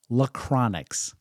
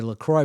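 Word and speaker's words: La Croix: love to pronounce it lacronix and in our family when I read c-r-o-i-x and it's uh prefaced by La I would pronounce it LaCroix so I do believe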